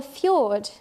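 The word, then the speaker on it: fjord: what we call a feud and so we see lots of these up in Alaska it so originally a Norwegian name which is why it's spelt funny and these are just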